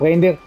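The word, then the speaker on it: Raindyr: you can check up Reindeer. He's a very good Rain player. It's just pronounced like Rain's name and then Deer with Y.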